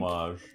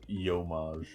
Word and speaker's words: homage: I think Homage. you're saying it correctly. I'm saying it as homage. You're saying it is yomage.